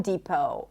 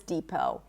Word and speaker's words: depot: Home Depot, Office Depot, depot. It's a high E and then long O as in go, no T.